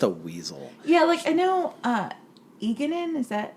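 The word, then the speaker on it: Egeanin: Eganin, is that how you pronounce her name? Yes, Eganin / Mistress Lewin.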